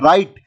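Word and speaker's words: write: में next word है राइट तो राइट में जो है व जो है आपका साइलेंट है उसके बाद में नाइफ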